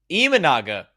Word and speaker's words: Imanaga: There was a lot of buzz about Shota Imanaga? Imanaga. Could have been worse. Yeah. There was a lot of buzz. This is from Noel again, by the way. There was a lot of buzz about Shota Imanaga initially, but now it's gone quiet.